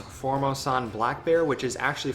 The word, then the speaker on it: Formosan: be bringing in the I think it's pronounced form Osan black bear which is